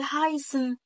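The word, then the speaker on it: heißen: وظيفتين في اي كلمه لو جاي في اول الكلمه فتنطق ها عادي او صوت اله زي الفعل هايسن اهو هايسن دايما تقول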